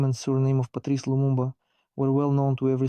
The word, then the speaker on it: Lumumba: a piece of paper mistakenly pronounces the surname of the renowned political and state figure. The first prime minister of the Democratic Republic of the Congo, Patrice Lumumba. Is Lulu Lumba using Lu instead of M?